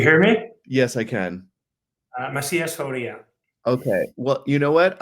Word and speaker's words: Macias-Fauria: So if you could remind us how to correctly pronounce that. Do you hear me? Yes, I can. Macias-Fauria.